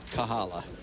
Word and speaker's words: Kahala: you stop by the Kahala Chinese in large pronounced Kahala ending with an A that's it well last